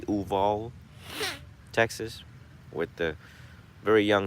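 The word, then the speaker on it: Uvalde: mass shooting in texas uvol is how you say that city uval texas with the very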